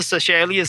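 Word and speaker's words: Seychelles: were a soccer team they went to the selas islands uh Cel is spelled s y c h l l s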